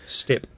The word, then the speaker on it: steppe: onto the Russian steppe.